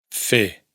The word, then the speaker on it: fer: Para empezar, la R final no se pronuncia en los infinitivos verbales.